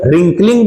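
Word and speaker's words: wrinkling: मतलब होता है सिकुड़ना देखिए यहां डब्लू से शुरू है अगर डब्लू के बाद आर आता है तो डब्लू क्या होता है साइलेंट होता है इसे हम केवल रिंकलिंग बोलेंगे बल्कि रिंकलिंग रिंकलिंग नहीं बोलेंगे चलिए अगला कॉज क्यों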